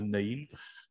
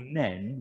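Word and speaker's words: Nene: the northampton end here i can call it the neem they stupidly call it the men with a silent e anyway um the knee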